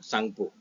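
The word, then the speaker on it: Tsangpo: को क्या बोलते हैं सांगपो यहां पर टी साइलेंट है इंडिया में कहां से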